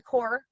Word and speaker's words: Corps: um and of course put the s on the on the core silent s that you know peace corps that silent s gets gets people all the time right um but i